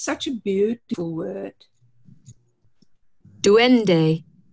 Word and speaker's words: duende: Duende. Duende.